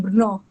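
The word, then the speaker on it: Brno: Esta es la casa eh que estábamos hablando recién en BR eh en Brnó, en realidad está muy pronunciado, Brnó.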